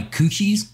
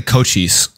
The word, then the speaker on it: Cochise: Inspection by Coochies, you said? Cochise. Is that how you say it? It's technically Cochise. It's like a very specific pronunciation. It's like cheese, but if Is like it an actual word?